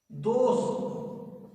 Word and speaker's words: दोष: यदि आप जिह्वा के अग्रभाग को मूर्धा पर नहीं लाए तो इसका उच्चारण गलत होगा। ऐसे कृषि, कृषि, दोष, ये जब तक मूर्धा पर आप नहीं लाएंगे तब तक ये सही नहीं होगा।